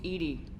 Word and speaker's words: EDI: why are you named edie edie is the phonetic pronunciation of edi that is an acronym for enhanced defense intelligence what's your job what